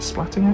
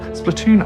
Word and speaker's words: Splatoon: with some splatting action splatting action that's probably not the right way to say it Splatoon action there we go that sounds a bit a bit nicer um but yeah we